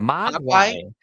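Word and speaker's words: Mogwai: So, while I'm looking that up, our other tie-in tonight, of course, is Gremlins because if you have a Mugay or Mug Muay Muay got to say it right.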